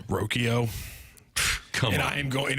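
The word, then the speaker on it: Rocchio: ruins my life because he pronounces it differently how does he pronounce it roko come on and I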